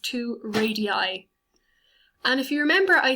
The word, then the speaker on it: radii: if you have more than one radius it's pronounced two radii and if you remember i said every point